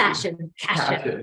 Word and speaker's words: Cashion: Like fashion with a C. Cashion.